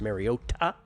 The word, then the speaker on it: Mariota: If not, it will be Marcus Mariota. That's the pronunciation. Mariota, the Hawaiian pronunciation.